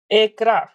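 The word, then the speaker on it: Accra: ये तो मुझे लगता है घाना का आंकड़ा है। हाँ सर। प्रोनाउंसिएशन गलत कर रहे हो यार। हाँ, कैपिटल ऑफ घाना देखो जरा। एकरा। कब है सर? एकरा। आंकड़ा आंकड़ा आकरा।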